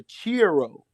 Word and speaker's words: Chi-Rho: another vision of a cross, and he promoted another variation of it called the Chiro.